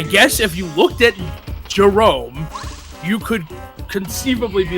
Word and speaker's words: Jerome: His name is Jerome. Right? Like Jerome, yeah. Jerome. Yeah. Jerome. Yeah. 1000%. I've met Jeromes. That is how you spell Jerome. Yeah. His parents pronounced it Jeremy.